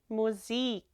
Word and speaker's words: Musik: Remember that I in German is pronounced like an E. Musik.